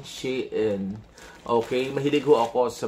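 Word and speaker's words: SHEIN: no sa Shin also that's the pronunciation shiin Okay mahilig ho ako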